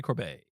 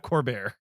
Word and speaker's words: Corbet: Brady Corbet. Brady Corbet. Assuming it's the French pronunciation. Corbett? Who co-wrote No, not Corbett.